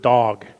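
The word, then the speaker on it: דָּג: a great fish that's the hebrew word dog it rhymes with our word for dog but it refers to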